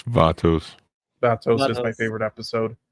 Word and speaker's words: Vatos: Seasons uh vetos sorry is it Vos vatos how do you pronounce it it's vatos Vos is my favorite